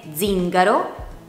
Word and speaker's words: zingaro: All'inizio di una parola, la cui seconda sillaba comincia con B, D, G, L, M, N, R o V. Per esempio parole come zingaro, zabaione.